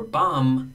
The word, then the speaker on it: bomb: still write it or bum there's no B at the end bombing there's no B but and bomber there's no B yet bombardment now I do pronounce this be Bombardier I do pronounce